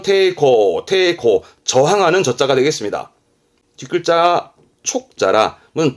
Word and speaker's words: 抵抗: 발음은 테이코, 저항하는 저자가 되겠습니다.